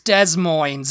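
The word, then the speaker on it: Des Moines: yosity the next one is des moins It's Des moins okay this is another state capital by the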